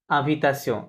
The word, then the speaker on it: invitation: ইনভাইটেশনকে আভিতাসিও, ইনভাইটেশনই লেখা থাকবে, বাট উচ্চারণ হবে কি?